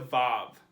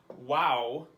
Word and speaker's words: Vav: It makes a V noise like our English letter V. But that is the modern pronunciation. Some people who read ancient Hebrew pronounce it wow with a W noise, wow, because that's how we know that they pronounced it way back in the day when they wrote the Bible. But I learned Vav, so that's how I pronounce it.